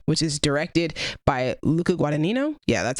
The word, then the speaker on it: Guadagnino: My number 10 is Challengers, which is directed by Luca Guadagnino. Yeah, that's how you pronounce it, I believe.